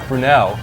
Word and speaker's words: Brunell: Mark Brunell gets benched the same week. Coincidence? Telling you. Did I pronounce Brunell right?